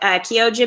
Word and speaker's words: Chioggia: beat that is good kiyo gia is one it spelled like Chioggia but Kyoji beat that's one that's a